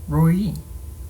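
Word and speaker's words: Roi: Roy, pronounced according to the vowels later put into the mesoteric text roy rhymes with goi rather than koi or boy.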